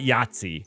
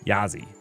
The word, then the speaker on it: Yazi: is this yatsi yazzi yai not yatsi it doesn't have the T Yazi Yazi that that's how I'm pronouncing it from now on yzi kind of that